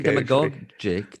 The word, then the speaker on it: demagogic: I realize that I say demagogic. Actually, it's not a word I say very often. Huh. Demagogic? Are we doing hard G's? Is that hard G? Demagoguery, demagogic. Okay. Lasagna. Just remember, always hard G.